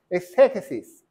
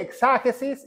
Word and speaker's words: exégesis: Muchas veces dice mi esposa que no puedo pronunciar exégesis, porque si dice exágesis es diferente, verad. Cuando dice exágesis con a quiere decir exageración, pero cuando dice exégesis quiere decir que hay una crítica, ¿verdad?